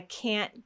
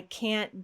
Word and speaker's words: can't: So this affects the rhythm of the sentence. Notice that the rhythm is different. When you say I can go and I can't go, the rhythm is different. This is one of the ways that we hear the difference between positive can and negative can't.